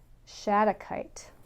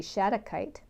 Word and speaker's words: shattuckite: i can get a good grip on it shattuckite okay for those of you that are wondering how to spell that it's s h a t t u c k i t e shadow kite and shattuckite helps to connect you with your